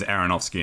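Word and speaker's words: Aronofsky: but hey say time it sounds weird for aronowski and chovsky it is aronowski and shovsky yes that's right um yes uh Noah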